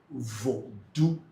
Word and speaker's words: vodu: So we say vu.